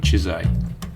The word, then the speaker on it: Чизай: Чизтай, по-венгерски имение Чиза, и в произношении с течением времени буква выпала, оставив современникам Чизай.